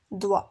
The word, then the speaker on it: doigt: Alors la lettre G est muette dans certains mots et ne se prononce pas.